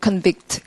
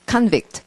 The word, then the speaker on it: convict: convict, convict. 같은 말 맞아요? convict, convict. 되게 다르지 않아요? convict, convict. 그러니까 구분이 확 되는 거예요. 강세 때문에.